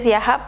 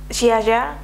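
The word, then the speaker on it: Ziaja: de la marca Siaha, que yo sé que no se pronuncia Siaha, pero es que no sé pronunciarlo. Es una marca polaca. Es como Xiaya, como Xiaya.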